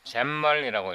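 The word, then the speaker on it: XAML: 시스템 이걸 잼멀이라고 읽더라고요.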